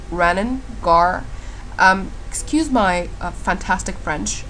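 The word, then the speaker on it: Renens: Apparently it's called Renault, but I just call it Rennen, so that I don't get into that French thing.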